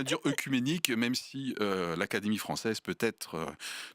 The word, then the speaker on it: œcuménique: Non, lorsque il y a le o et le e en début de mots, ça ne se prononce pas e, ça se prononce et. Donc quand on dit esophage, on devrait dire esophage. Quand on dit, on devrait dire. Et écuménique, on devrait dire écuménique.